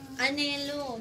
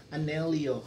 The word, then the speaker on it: Anelo: Anelo daw. Ay naku. Of course. Hello. May official store na kaya ng Anel. Hindi ganon i pronunciation. Anelio. Ito siguro yung 33 ba. Ang tama is Anelo.